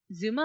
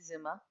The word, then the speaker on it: Zuma: your niece mhm uh Z Zuma I believe is how you pronounce it zuu Ma a yeah Zuma yes reminds you of your eldest niece Zuma how chaotic she can